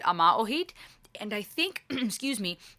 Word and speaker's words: Yma o Hyd: If I understand correctly, we pronounce it Ama Ohid.